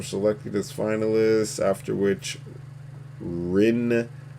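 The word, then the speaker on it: Rijndael: 5 ciphers were selected as finalists, after which Rindal, I think the J is silent, Rindal, was secured to become AES.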